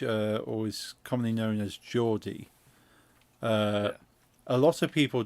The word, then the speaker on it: Geordie: But if you Google like Geordie accent, spelled like almost like George, but it's Geordie.